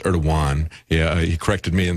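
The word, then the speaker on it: Erdoğan: And I understand it's Erdogan. Yeah, he corrected me in this. I've been using the southern pronunciation here, but this is a lawsuit that's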